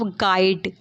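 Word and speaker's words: guide: the silent of गाइड गाइड में क्या silent है अगर हम लोग गाइड में साइलेंट की बात करें तो यू हम लोग का क्या है साइलेंट है गाइड पढ़ते हैं हम लोग ना कि गाइड इसलिए गाइड पढ़ते हैं जी आई डी हम लोग पढ़ते हैं बट लिखा क्या जाता है जी यू आई डी तो हम लोग का क्या साइलेंट है यू साइलेंट है गाइड होता है नेक्स्ट हम लोग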